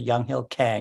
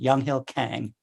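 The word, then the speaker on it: Younghill Kang: Young Hill Peng Kang I guess he would pronounce it young Hill Kang because he completely Americanized he came over to the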